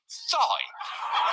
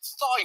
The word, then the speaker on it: Thai: According to a former classmate, DeSantis would apparently tell dates he liked Thai food, but pronounced it thigh.